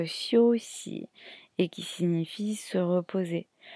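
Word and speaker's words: 休息: la d2 caractère qui sont affichés qui se prononce chossy et qui signifie se reposer on a à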